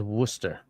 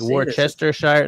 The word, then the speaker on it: Worcester: of all it's Worcester sauce that's how it's pronounced as Worster some people will say Worcester sh but like Worchester Shire no no it's Worcester or maybe Worcester sure